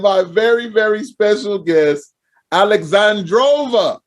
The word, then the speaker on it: AL3XANDROVA: And my very, very special guest, AL3XANDROVA. Did I say it right again? You did. AL3XANDROVA. I want to say it quick. AL3XANDROVA. Like that. Like she says it.